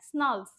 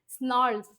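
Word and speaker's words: snarls: इसका इस वर्ड को कैसे बोलते हैं? स्नॉल्स, आर साइलेंट होता है या फिर आर फ्लोइंग आर र, स्नॉल्स, ठीक है, स्नॉल्स।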